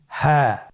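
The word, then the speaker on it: هاء: বাকি তিনটি হরফ আমরা এখন শিখবো। আপনারা স্ক্রিনে লক্ষ্য করুন। পরবর্তী হরফটির নাম কি? হা।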